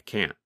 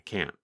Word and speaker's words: can't: In fact, in the negative form, because the tongue and voice stop, there is almost no sound of the letter N.